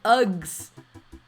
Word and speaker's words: UGS: Nah, but we are open for hugs, though. No! Okay. But yeah. It's pronounced U-G-S. Hugs. Ah, okay. I didn't say hugs, I said Uggs. Because it's U-G-S. Uggs.